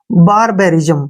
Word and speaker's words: barbarism: ना, यहाँ पे इसका उच्चारण होगा बी का उच्चारण बै हो गया, ए से ए की मात्रा और आर से रे और आई से ई, ठीक है ना। और यहाँ पे जो IS का उच्चारण होगा वो इकट्ठा होगा जय के रूप में और एम से मैं बन जाएगा। बारबेरिज्म, क्या पढ़ेंगे इसको, बारबेरिज्म, क्लियर।